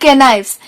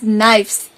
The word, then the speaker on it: knives: And it is not knives, it is knives. Here the letter K is silent, right?